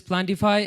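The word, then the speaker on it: PlantifAI: Pronounced as Plantify and written as Plant If AI.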